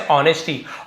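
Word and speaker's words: honesty: यहां पे S silent है। लिखेंगे जरूर लेकिन पढ़ेंगे कैसे? ऑनेस्टी। ऑनेस्टी नहीं पढ़ना गलत होता है।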